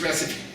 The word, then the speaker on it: recipe: called it the site I'm like no it's recipe he's like no the E is silent and it makes makes the vowel long I'm like well that's true but it's recipe because English is so you have to have